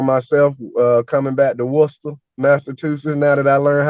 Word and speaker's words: Worcester: Falls some of the the PA person said warchester and yeah everybody on the sidelines was like